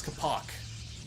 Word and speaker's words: Capoch: that macro hatch now I forgot how to pronounce his name it's Kapak Kapak like a like think